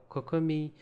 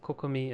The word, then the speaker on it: Kokomi: Your choices are Kokomi, yeah, that's how I think everyone in English pronounces it. Kokomi, as you'd pronounce it in Japanese.